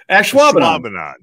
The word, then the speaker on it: Ashwaubenon: Ashwaubenon.